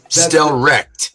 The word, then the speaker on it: Stelrecht: We doing it on English and we're joined by Stelrecht. I said it right? That's pretty darn close, you know, just get rid of the ch sound and make it more of a hard Stellrecht.